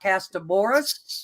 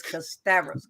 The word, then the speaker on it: Kasterborous: going to correct them so let me correct everyone is not cast of Boris it's not considerous it's cassavis con custavors yes we also call it